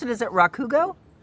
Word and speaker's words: Rakugo: Is it Rakugo? Yeah. Emphasis on the first syllable. Rakugo is usually Rakugo. Rakugo.